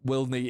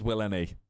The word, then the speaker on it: WillNE: Just to clear up Willneff is Willneff. I just I just pronounced it like that.